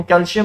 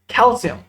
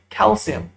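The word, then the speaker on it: calcium: कमी हो रही है, लेकिन दरअसल इसकी प्रोनाउंसिएशन, इसका तलफ्फुज जो अहले जुबान करते हैं वो कैल्शियम नहीं है, बल्कि वो कैल्शियम, कैल्शियम, शीन से नहीं है, सीन से, कैल्शियम।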